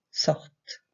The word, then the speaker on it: sortent: Sortons, sortez, sortent. On s'arrête bien là, puisque le ENT ne se prononce pas.